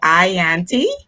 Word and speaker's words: Yanty: going to be making tonight and am i pronouncing your name correctly is it ianty that's fantastic that's how you say it i